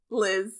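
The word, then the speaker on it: Leezh: rash and Le l e e z h Liz yeah lit Lo okay good that's how they pronounce so he's going to steal Stacy away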